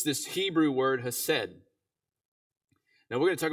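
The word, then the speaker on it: חֶסֶד: Hakalugi and then throw an H in front of it, right? That's how you would pronounce it in Hebrew, right? Hesed.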